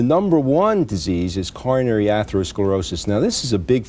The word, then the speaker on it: atherosclerosis: Well, how does atherosclerosis is that the way you pronounce it? Yes, it is.